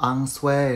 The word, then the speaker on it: ensuite: 第三种叫做 ensuite，它不读音素哦， ensuite 是个法语词汇哦。